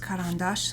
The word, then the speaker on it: Caran d'Ache: It is pronounced Caran d'Ache, so I'm super happy I've been pronouncing it right.